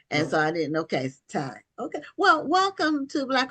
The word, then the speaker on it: Tiye: So now is your is this pronounced? Yes. Or Okay. Okay. Because I didn't know if it was two syllables and so I didn't. Okay. Ty.